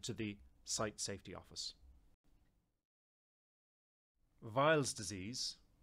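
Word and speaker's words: Weil's disease: the site Safety Office vials disease sometimes pronounced as wheels disease or wires disease is an acute infectious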